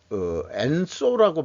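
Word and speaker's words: 円相: 이 탐구 생활이라고 유명한 또 유튜버 모양인데, 이게 엔소라고 발음을 하는 말인데, 일본 말로 하나의 이런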